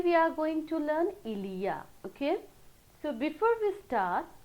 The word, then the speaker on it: il y a: Ilia, okay, like this we pronounce.